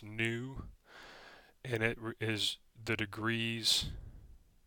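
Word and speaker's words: ν: letter looks like a V it's called new pronounced new and it is the degrees of freedom we'll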